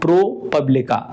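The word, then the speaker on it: ProPublica: भी बोल सकते हैं इसे थोड़ा सा प्रोनाउंसिएशन का आप समझ लीजिए प्रोपब्लिका इसका जो राइट प्रोनाउंसिएशन है वो यही है यानी ऑप्शन डी इसका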